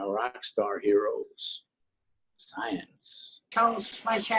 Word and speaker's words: Fleischer: It's Fleischer. Fleischer. F-L-E-I, that'd be fly, as opposed to I-E, which would be like Riemann, like Riemann hypothesis.